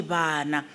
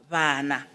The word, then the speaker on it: bana: In Sesotho and Setswana, B can be used for bana, meaning children or kids. But in Sepedi, we don't say bana. It's a fricative. We say bana. The lips do not touch. They come closer to each other, then we pronounce it as bana.